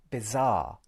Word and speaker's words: bizarre: Notice that the word R does not contain an sound, nor does the second syllable of the word bizarre.